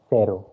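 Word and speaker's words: cero: in your notebook so zero starts it's called sero okay c is pronounced here as sur sound so it is zero so don't say something like uh kero or anything else okay then starts with one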